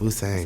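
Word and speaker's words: Wu Tsang: Yes, Wu Sang.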